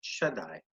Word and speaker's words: Shaddai: you'd some people pronounce it differently but we pronounce it Shaddai and sages have an interesting interpretation of this